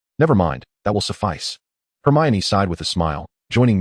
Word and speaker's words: Hermione: Hermione, she articulated slowly, inunciating each syllable. Hermen? Crumb mistakenly repeated. No, it's Hermione. Her men, he insisted, figning ignorance with stubbornness. Never mind, that will suffice. Hermione sighed with a smile, joining Mia and the others.